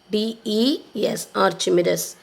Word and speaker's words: Archimedes: So I'll give you the pronunciation Archimedes. Archimedes.